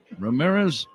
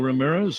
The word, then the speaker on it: Ramirez: Low and inside to Ramirez, who has 3 syllables in his last name.